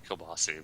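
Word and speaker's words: kielbasa: Because I know, like, well, obviously Kielbasi, but and that has an A at the end, even though it's pronounced with an I.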